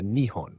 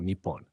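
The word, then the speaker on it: 日本: de dois caracteres que em japonês se pronuncia Nion ou nipon.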